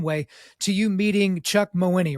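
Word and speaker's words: Mawhinney: in a certain way to you meeting Chuck mowini right and that's how he pronounces his last name or Moni right mohene yes um my Winnie and so I've heard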